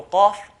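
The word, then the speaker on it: قاف: So qaf, qa, it's a heavy letter.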